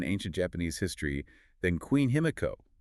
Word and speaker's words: Himiko: Japanese history than Queen Himiko, or as our sources insist on pronouncing it to be historically accurate, Himeka. Right, with the me sound likely dropped or unrecorded, we'll refer to her as Himeka today.